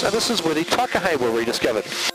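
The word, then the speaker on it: Takahē: And on the right hand side, the Murchison Mountains, and this is where the Takahe were rediscovered. And pronounced correctly, of course, it would be the Takahe.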